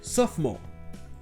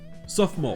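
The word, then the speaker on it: sophomore: les deux cas s'appelle sauf moi comme vous pouvez l'entendre dance of man le deuxième os ne se prononcent pas sauf mon hockey chf le et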